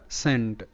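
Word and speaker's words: cent: সেই বিষয়টা তো ফাস্ট একটি শব্দ হলো সি ই এন টি এটার উচ্চারণটা সেন্ট সেন্ট ঠিক আছে তো এখানে কিন্তু সি স হিসেবে উচ্চারিত কেন উচ্চারিত এটা হলো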